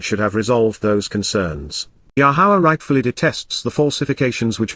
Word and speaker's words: Yahowah: For this reason, therefore, Lacan, as a result, thus says, Koamar, here is what is being said now by Yahowah, Yahowah, the proper pronunciation of Yahovah, our Eloah, God as